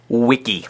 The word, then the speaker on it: wiki: know maybe you've even done that before second wiki the word wiki is a word for a collaborative website and it is pronounced Wiki Wikipedia is a mix of the